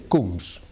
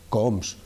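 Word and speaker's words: Coombs: con el análisis que tú has dicho, el test de Kums, un test que se escribe es el nombre de un fulano que describió la prueba, se llama C o O MBS, coms cums.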